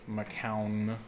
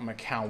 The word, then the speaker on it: McCown: sequel server by the way that's it's pronounced phonetically McCown not McHale winning or Macau an or McHale Wan it's